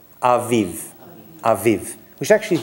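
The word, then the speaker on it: אביב: Every letter with a vowel under it must be pronounced. And without a vowel, you've got to blend into it. So it's a, v, v. We're going to blend it. It becomes aviv.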